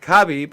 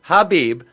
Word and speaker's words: Khabib: First of all, the man's name is pronounced either Khabib or Habib Nurmagomedov.